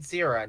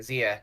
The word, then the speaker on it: Zia: Tyler Fish said he said Zira, not Zia. How lazy is Linker? Zira. It's Zia, right? Yeah, Zia.